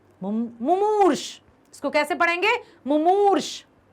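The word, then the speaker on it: मुमूर्षु: पहला माँ छोटाऊ की मात्रा, दूसरा माँ बड़ाऊ की मात्रा, सा से षटकोण ऊपर रा, मुमूर्ष।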